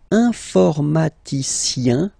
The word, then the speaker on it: informaticien: And the last group is IEN, informaticien, yin, yin, yin. So that's the way to pronounce this IEN, yin, yin. Okay? Informaticien.